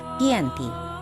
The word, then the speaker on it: Giyanti: 13 Februari 1755 nama Giyanti sendiri diambil dari lokasi penandatanganan perjanjian yakni di desa cantik dalam pelafalan Belanda ia tersebut sebagai kiyanti dan secara tertulis ia terbaca sebagai kiyanti di tempat tersebut sekarang dikenal